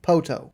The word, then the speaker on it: Poteau: They live in a small town called Poteau, Oklahoma, and that is spelled Poteau, but pronounced Poteau.